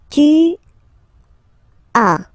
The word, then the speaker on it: as: Second one, tu as, okay. As usual in French, final S is not pronounced. Tu as.